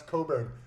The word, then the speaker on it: Cockburn: call it yeah yeah but it says cockburn on it you will get corrected if somebody actually knows where this street is they'll be like no no that's coburn no it is spelled